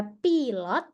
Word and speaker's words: pilot: Kemudian ini tulisannya sama persis, beda hanya baca di huruf I-nya aja. Dalam bahasa Indonesia dia pilot, Dalam bahasa Inggris, that's pilot. Pilot. Huruf I dibacanya I.